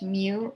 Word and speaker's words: mu: probability the mean was the greek letter mu pronounced mu m e w we usually spell it